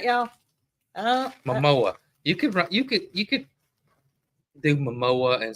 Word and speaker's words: Momoa: So Momoa.